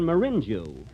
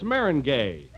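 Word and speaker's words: meringue: famous for my lemon marinu marinu well that's Marin gay oh Mar oh is that the way it's pronounced oh see you learn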